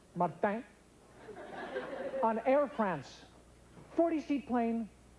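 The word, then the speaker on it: Saint-Martin: martinque to San Martin that's the way it's pronounced Martin on France 40 sheet plane 39 people smoked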